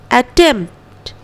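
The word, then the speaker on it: attempt: Okay, बिल्कुल उसी तरह अटेम्प्ट, एम के बाद तुरंत टी में चल जाएंगे, पी को छोड़ते हुए. पी का उच्चारण नहीं करेंगे.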